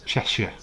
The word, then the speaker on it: Cheshire: We don't say Shire. Sure, Cheshire. We don't pronounce that.